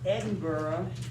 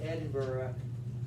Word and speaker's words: Edinburgh: He's born in Edinburgh. That's how they say it. We might say Edinburgh, but they say Edinburgh, Scotland.